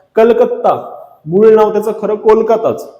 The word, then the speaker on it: कोलकाता: एक नोव्हेंबर 1973 ला कलकत्ता मूळ नाव त्याच खरं कोलकाताच पण ब्रिटिशांकडन अपभप्रभवेश होऊन त्याच्या प्रोनन्सशन मध्ये चुका करून कोलकाताच त्यांनी कॅलकटा करून ठेवलं होतं त्या कॅलकला पुन्हा पूर्वत करून कोलकाता करण्यात आलं 1 जानेवारी 2001 ला